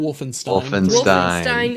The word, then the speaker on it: Wolfenstein: It is, I don't know how you pronounce the ending of this word. Is it Stein? Wolfenstein.